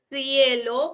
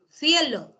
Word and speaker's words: cielo: Pero, profesora, ¿no se pronuncia cielo con S? No. ¿Ya? Cielo no es alveolar, no. Su fonema es cerro, cerros. Su pronunciación es cerro, cielo, zapato, zorro.